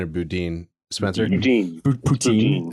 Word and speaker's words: Boudin: recalling the likes of Boudin. I don't know if it's Boudin or Boudin. Spencer? Poutine. Poutine. It's poutine. Right. It's like the French fry dish. Okay. Yeah, but it's like poutine, but boudin.